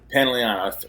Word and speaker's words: Pantoliano: Pantoliano.